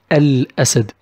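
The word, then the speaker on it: الأسد: There is no شده above A and we pronounce it ال أسد.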